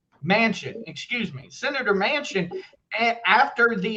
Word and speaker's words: Manchin: uh interview with uh senator manchin i think is how you say his name mansion excuse me senator manchin